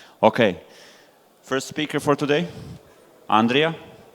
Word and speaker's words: Andrija: Okay, first speaker for today, Andrija. Says Andrew, but it's actually Yes. Andrija.